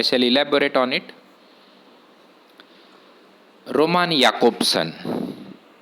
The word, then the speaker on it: Jakobson: on it roman jakobson see the name it is not jacobson it is jakobson because this j or this letter is pronounced as here in many european languages except in english it is pronounced as ja but it is pronounced as here in other european languages so romani akopsin was